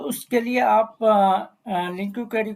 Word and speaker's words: LINQ: इसको प्रोनाउंस जो लिंक भी बोलते हैं।